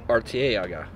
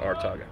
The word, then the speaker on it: Arteaga: I'm going to say his name's Arteaga, not Artaga. That is correct.